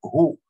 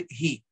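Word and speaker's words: היא: Не так происходит с тем случаем, когда слово «ги», «она» пишется с вавом, то есть как «гу» по написанию без огласовок. Мы бы прочитали, наверное, «гу», да, но читать надо «ги».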